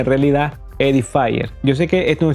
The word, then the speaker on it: Edifier: Aquí tenemos un parlantito pequeño, vean cuánto es pequeño, de la marca Edifier, o como se pronuncia en realidad, Edifier.